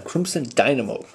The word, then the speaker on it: Crimson Dynamo: Dynamo Crimson Dynamo okay I think I've been saying it wrong the whole time Crimson Dynamo that's who it is